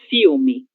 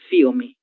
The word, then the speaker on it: filme: Ela só tem som l quando nós temos uma vogal. Filme passa mesmo. Filme. Tenemos na consonante depois de lá. L el em razão disso. Filme e não filme. Filme.